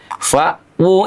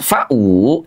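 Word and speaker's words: فَأْوُۥٓا: Tidak sedikit di antara sahabat kita yang membacanya malah jadi pendek. Fau ilal kahfi yansyur lakum rbukum mir rahmatih. Padahal jelas sekali di sana saut Al-Qur'an pada kalimat fawu itu ada domah terbalik di atas huruf wau ya.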